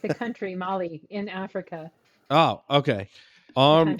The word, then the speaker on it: Mali: how do you say is it arm Molly GPU m a l i Molly yeah we'll go with that Molly yeah or arm like Molly like the drug Molly or no like the